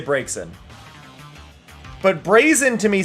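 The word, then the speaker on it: Braixen: Um to me, it's Brazen. Like I it's a combination of Braze and Vixen.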